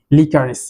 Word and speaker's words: liquorice: যষ্টি মধুর ইংরেজি লিকারিস, বাট এটি বানানটার দিকে একটু খেয়াল রাখতে হবে, LIQUORICE, লিকারিস।